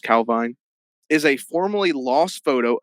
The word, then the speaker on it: Calvine: It's Scottish, so I think it might be pronounced Calvine.